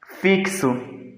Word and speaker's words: fixo: letras e 5 fonemas aqui a palavra fixo né que no caso ela é com x nós vamos ter aqui o som de k e s tá é importante a